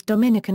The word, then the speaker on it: Dominican: The demonym or adjective is Dominican in English. It is pronounced with the syllable stress being on the second I, serving to distinguish it